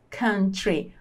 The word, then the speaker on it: country: We love this country. Nós amamos este país. We love this country. Olha como fala país em inglês. Country. Não diga country, tá? Tá errado a pronúncia assim. O certo é country.